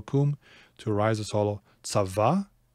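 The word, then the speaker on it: צוה: Tzava is not hollow. Very common verb, and you always pronounce that vav, and it's always consonantal.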